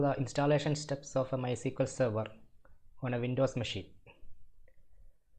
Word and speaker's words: MySQL: choice type my SQL it is pronounced as my SQL although it is uh typed as MySQL okay Enter click the